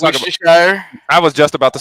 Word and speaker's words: Worcestershire: Hey, the only reason why we Worcestershire sauce is because we can pronounce it. That's the only reason. It's Worcestershire.